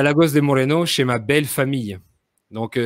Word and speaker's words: Lagos de Moreno: J'habite à Lagos de Moreno. Je prononce D'accord? avec l'accent espagnol, évidemment. Donc, Oui, j'habite à Lagos de Moreno chez ma belle famille.